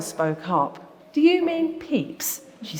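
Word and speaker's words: Pepys: how to pronounce Samuel peeps it doesn't look like it's spelled but um I did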